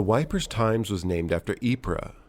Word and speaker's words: Ypres: The Wipers' Times was named after Ypres. Tommy's slang pronunciation of Ypres was Wipers.